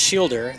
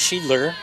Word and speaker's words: Shidler: your screen and being, that's not pronounced Shielder, that's pronounced Shidler or Seidler.